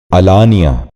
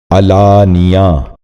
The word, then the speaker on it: اعلانیہ: آج کا 5واں اور آخری لفظ ہے اعلانیہ۔ یہ غلط تلفظ ہے، درست تلفظ ہے علانیہ۔ دوبارہ سنیے، علانیہ۔ بچوں آپ بھی غور